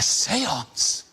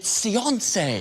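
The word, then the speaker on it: séance: A seance. No, I've been pronouncing it seiance.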